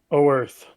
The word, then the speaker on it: Oerth: O Earth. O Earth. Oh, Earth.